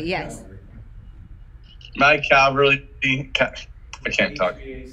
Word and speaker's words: Cavalry: Calvary, yes. My Cavalry, I can't talk.